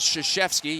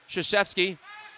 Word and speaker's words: Krzyzewski: This is Krzyzewski, yes, spelled the same way and pronounced the same way as the Duke basketball head coach.